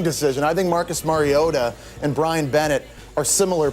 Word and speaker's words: Mariota: was that marcus mariota say it right mariota not mariota has been named the